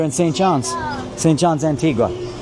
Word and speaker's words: Antigua: Antigua. Not Antigua.